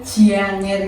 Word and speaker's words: janger: Tapi kalau dari bahasa Osing harusnya pelafalannya itu janger gitu. Kayak ada y-nya di antara j sama a gitu.